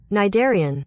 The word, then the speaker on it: Cnidarian: So how do you say it? Cnidarian. Cnidarian. One more time. Cnidarian. Cnidarian. Then why did you have to put the C in there and confuse Triz?